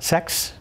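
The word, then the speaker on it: sechs: And did you know that the number 6 in German is pronounced sex?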